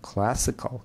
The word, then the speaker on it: classical: So the first syllable is stressed. Classical.